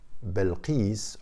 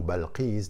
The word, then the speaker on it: Bilqis: the queen of sheba belkis or balchez depending on the pronunciation is essential in our